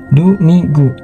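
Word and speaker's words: domingo: dari bahasa Portugis Domino kata ini diucapkan sebagai du migu dalam bahasa Portugis terkini Jadi kurang lebih seperti dominggu walau demikian banyak orang yang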